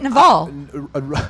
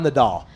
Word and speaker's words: Nadal: this way, because How do you say it, Naval? Rafael Nadal. And His name. So his first name is Rafael. Yeah, Rafael. It's like people call him Just Rafa. stick to Rafael. Rafa Nadal.